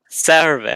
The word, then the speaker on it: Sarave: Sarave. I'm like Sarah.